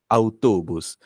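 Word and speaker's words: autobús: शब्द होता बुस त अवतोबुस तुझ्या नावात आहे ना गायत्री तो त जो आहे तोच स्पॅनिश मध्ये ट नाहीतोस नाही टीतोबुस फक्त तौतोबुसतो त्यानंतर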